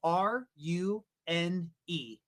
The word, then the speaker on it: Rune: Thor chain's token is called Rune and that's spelled R U N E. Rune.